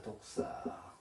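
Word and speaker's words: δόξα: 어떻게 읽을까요 어떻게 읽을까요 독사입니다 독사 발음을 잘 하셔야 됩니다 복사하면 안 되고요 독사입니다 우리가 학교 다닐 때이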